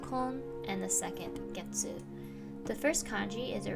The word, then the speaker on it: 月: word for you mande the first kanji is pronounced getsu and the counter as a whole is pronounced